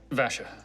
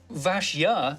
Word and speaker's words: Vashya: Vasha. Vasha, Vashya, Vasha. What? Yeah, just a silent Y in there. Vashya?